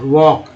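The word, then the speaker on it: walk: वॉक, इसमें भी silent है, वॉक, वॉक, वॉकिंग, ठीक है।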